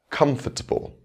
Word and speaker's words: comfortable: Now we'll add another suffix, forgetfulness. The stress is still on the same syllable.